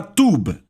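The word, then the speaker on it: טוב: palavra hebraica para bondade a palavra tuba falamos como se fosse ter o bebê mas se escreve t u wb esta palavra em hebraico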